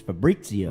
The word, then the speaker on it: Fabrizio: You're saying it wrong. It's Fabrizio.